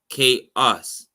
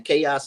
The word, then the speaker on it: Qos: The pronunciation is QAUS, chaos or chaos. That's the pronunciation.